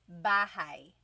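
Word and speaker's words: bahay: You might notice that the spelling is a y at the end. So it looks like bahi, but it's pronounced bahi. That a y combination is bahi.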